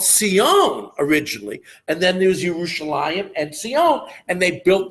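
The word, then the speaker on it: ירושלים: As a matter of fact, if you look at the word, it's not spelled with that yud. It's spelled Yerushalayim. There's one of them. So that's the way it's written, but we pronounce it Yerushalayim.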